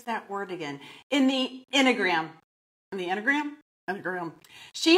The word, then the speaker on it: Enneagram: She is also trained in, let me see if I can pronounce this correctly, the Enneagram. Enneagram.